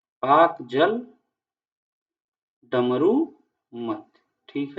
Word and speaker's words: Palk: देख लो पाक स्ट्रेट, देखो इसका स्पेलिंग अलग है ना, PALK, इसी को कहते हैं पाक जल डमरू मध्य, ठीक है।